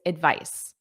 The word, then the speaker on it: advice: First of all, pronunciation. The noun is advice. Advice. The verb is advise. Notice that voice.